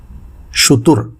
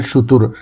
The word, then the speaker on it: شتر: آج کا لفظ ہے شتر، جو درست ہے شتر یا شتر، غلط ہے جو عام طور سے استعمال کیا جاتا ہے۔ اس کے معنی ہیں